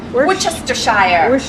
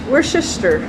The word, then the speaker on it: Worcestershire: Worcestershire. Worcester.